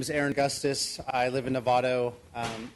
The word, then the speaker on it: Augustis: Augustus. A Oh, Augustus. Oh, that's a G. No, I'm just kidding. Uh yes, thank you for uh having me. My name is Aaron Augustus.